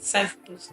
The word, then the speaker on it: SignPhotos: Did I pronounce SignPhotos well?